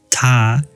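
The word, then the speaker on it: 她: Ta T. I noticed that he or she is the same pronunciation. In China, both is pronounced like Ta, but they have different characters.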